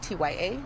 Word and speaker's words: Tya: Can I get you to say your name and spell that out again? Yes. First name is Tya, Tya.